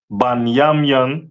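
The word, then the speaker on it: בנימין: Um, the tribe of Benjamin is uh the West Indians and is pronounced banyamian in the Hebrew.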